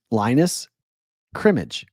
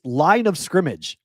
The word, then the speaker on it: line of scrimmage: It's line of scrimmage like football.